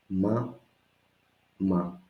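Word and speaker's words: μαμά: It's important the accent to be at the end. So let's go together after me. Ma, ma, mama, mama.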